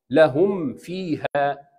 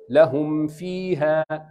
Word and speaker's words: لهم فيها: الصواب لهم فيها، انهي الميم وبعدين ابدا الفاء. How to say this two words together؟ لهم فيها، لهم فيها.